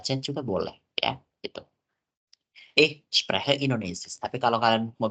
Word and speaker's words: spreche: Lagi-lagi teman-teman kalau ketemu kata yang di dalam kata tersebut ada huruf C, kita nggak baca C-nya. Bukan ich spreche, tapi ich spreche. Jadi langsung ke H-nya, lompat ke H.